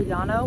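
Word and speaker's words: Llano: Lano or Yano with L's. It's pronounced like Spanish word Yano or Lano.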